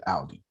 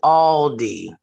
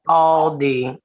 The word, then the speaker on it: Aldi: time i have said audi it is aldi it is all d and furthermore proves the point all d now that i know